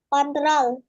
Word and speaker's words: Ctrl: Command ditulisnya ya, dibacanya. Kontrol.